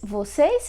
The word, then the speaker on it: vocês: of you, which is vocês. Very easy, very simple. Just have to add an S here. As you can see, is the same spelling and the same pronunciation, plus s at the end.